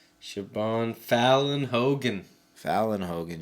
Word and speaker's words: Siobhan: name she's a familiar uh sioban I think like s i o u s i o b h oh Shan yeah shabon Fallon Hogan Valen Hogan sioban Valen Hogan Valen Hogan